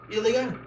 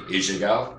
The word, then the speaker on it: Ilegal: What about Ilegal? Am I saying it right first? You are. If you were to say it in Spanish with a double L, it would be Ilegal, which doesn't quite make sense.